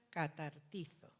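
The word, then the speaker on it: καταρτίζω: Hay un verbo que emplea Pablo aquí, que en griego se llama o se pronuncia catartizo.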